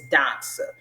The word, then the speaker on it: Diansa: But I think for English based people, it's dansa, Diansa. I the J just don't be jiving with me for some.